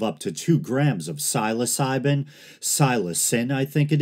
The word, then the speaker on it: psilocybin: Day psilocybin and I often hear people say psilocybin and I say psilocybin often but I looked it up and apparently the proper pronunciation is psilocybin but it might be a tomato tomato Niche